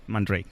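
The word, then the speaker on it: Man Ray: pronuncia realmente andrei que él piensa que en francés sería posiblemente algo como mandó aquí pero que normalmente utiliza la pronunciación inglesa más extendida man rey muy bien dan rudy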